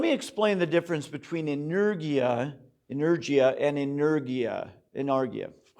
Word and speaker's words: energia: very nearly worded um the one is inergia spelled like energy with an i a on the end inergia and the other is